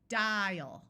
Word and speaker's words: dial: So we have dial with a clear long I and the A schwas.